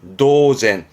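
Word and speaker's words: 当然: 마찬가지로 많이 있습니다 그리고요 뒷글자는 연 당연의 연 자죠 발음은 노젠 도젠 이것 또한 앞에 거랑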